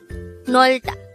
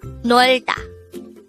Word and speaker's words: 놀다: Nolda. This is pronounced as a two-syllable word. The first syllable is nol, the second syllable is da. Pronounce it with me. Nolda.